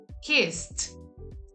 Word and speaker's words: kissed: Then that suffix ed is pronounced as t. For example, we have his. There is no vibration in our vocal cords. His. The past tense would be kissed. Kissed. T, t, t. The tip of the tongue in the upper part of our mouth.